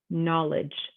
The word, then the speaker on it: knowledge: design silent letter g you don't say it silent k knowledge knuckle knives we're not saying that k at all we're seeing the n or the letter that's coming after it now for a silent